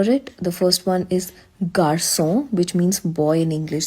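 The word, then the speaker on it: garçon: It tells you C as a soft s sound when it is followed by vowel a, o, and u.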